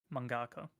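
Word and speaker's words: mangaka: However, some of these uh I always butcher the name. What is the name for a manga writer? Mongaka.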